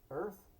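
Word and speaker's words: Oerth: a on a distant planet called Earth but it's spelled o e r t h funny okay would you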